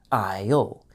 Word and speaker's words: aisle: Notice also that the S is silent in aisle. So, it sounds just like the word I with the letter L at the end. Isle.